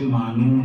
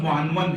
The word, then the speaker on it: معنون: یہ کہتے ہوئے سنا، آج کا یہ جلسہ آپ کی ذات والا صفات سے معنون ہے، حالانکہ صحیح تلفظ معنون ہے۔ اسی طرح ایک بہت